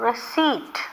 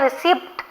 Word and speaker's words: receipt: I want the receipt. How did I pronounce this word? Receipt. This P is silent. Don't say receipt.